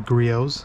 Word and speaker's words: Griot's: It's actually Griot's with a silent T.